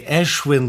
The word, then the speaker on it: Ashwin: Oh, we say Ashwin because it sounds more like Hindu Sanskrit. Ashwin.